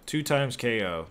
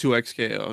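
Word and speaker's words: 2XKO: it 2K 2 2x 2x KO 2x KO 2 times KO that is no it's actually pronounced 2x KO not like two yeah yeah I yeah I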